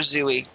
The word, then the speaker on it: Zooey: Zooey Deschanel which is charming just called her Zoey Zoey Zoey well it's spelled zuy well yes because the dashing L